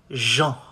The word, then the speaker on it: gens: How do you say people? You say les gens. Gens, les gens.